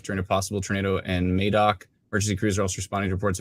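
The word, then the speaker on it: Madoc: uh uh near uh madok not Maddock madok clarify everybody gets very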